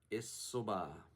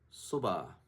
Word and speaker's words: Isoba: Number 12, Isoba, or some might say Suba, Isoba, Soba.